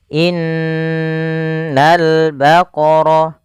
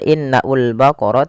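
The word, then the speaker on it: إِنَّ الْبَقَرَ: Ini bukan innaul baqarah tapi langsung ke lam.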